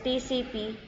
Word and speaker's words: TCP: for transmission control protocol and pronounced as separate letters TCP it is one of